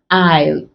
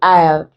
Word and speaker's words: aisle: Then we also have it in aisle, AILE. This and this are sorry, they are homophones, pronounced exactly the same way, aisle, aisle.